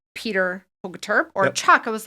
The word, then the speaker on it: Hogeterp: I always have to ask, so pronounce it for me. Yeah. Hogeterp. It's Hogeterp.